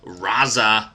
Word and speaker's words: RZA: because our good buddy razza who I think that's why you say his name it's just spelled RZA um he's a member